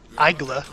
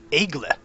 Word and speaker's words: Aigle: French for Eagle and I don't know how good my pronunciation was I tried to look it up on Google Translate and it's not Aguila which is what I originally thought it was it's eaglet so I think no matter